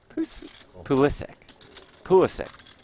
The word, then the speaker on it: Pulisic: Pulisic.